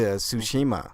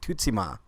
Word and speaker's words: Tsushima: saying it right to Tsushima right but it's actually pronounced differently and developer had a different pronunciation that I never heard before it's like Tootsie ma which is weird to